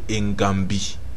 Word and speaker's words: Ngambi: Mais la bonne prononciation était Ngambi.